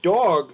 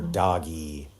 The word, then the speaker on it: Doge: I am of the opinion that it is either dog, and the E is silent, or doggy. Doge. I've always gone with dog, though, because it sounds like dog.